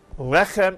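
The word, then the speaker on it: לחם: a final mem, and the word is pronounced lechem. And notice in this word, the accent is on the first syllable.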